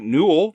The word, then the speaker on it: Newell: It's directed by Mike Newell, which rhymes with cool.